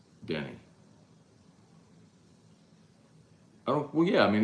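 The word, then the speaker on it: Bryant-Denny: We've been pronouncing Bama Stadium wrong this whole time. You saw the game day story earlier today. Bama's 35-year play-by-play announcer beating cancer. He pronounced it Denny.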